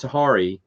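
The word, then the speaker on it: Tahiri: That was just a method to go back for him to tempt Tahari. That's how you pronounce her name.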